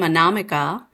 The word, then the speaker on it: Anamika: And before we just started chatting, I was talking about how to pronounce my name, Anamika, which is actually sounds with anonymous, Anamika.